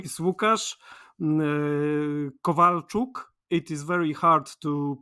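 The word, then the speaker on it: Łukasz Kowalczuk: I come from Poland uh my name is wuk Kovalchuk it is very hard to pronounce and uh no one from outside our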